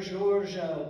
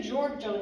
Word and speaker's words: Giorgio: And when you say Giorgio in Italian, it's not Giorgio. It's just like the name George with an O at the end. And the accent in that is on George, so you just say Pier Giorgio.